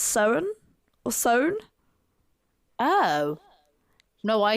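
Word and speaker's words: Samhain: What I've been calling Sam Hain is meant to be pronounced Soan or Soan. Oh. No, I didn't know that. Yeah, or Soen.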